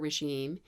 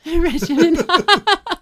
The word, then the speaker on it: regimen: and, do this skincare regime, and you're gentle with your face and you take care of your skin. Skincare regime? Yeah, like a regimen? Yeah. Oh, regimen. Oh dear, I said it wrong.